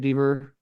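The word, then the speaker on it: Dever: Um, I mean, Caitlin Deaver, I believe is how you say it, Deaver.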